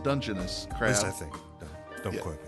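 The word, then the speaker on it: Dungeness: King and snow crab legs blue crab uh dungus is that how you say it dungeoness dungon crab I think don't qu me I I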